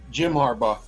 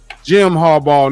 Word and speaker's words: Jim Harbaugh: his name right am I saying it right Jim Harbaugh Jim Harbaugh need is two Gam games back in the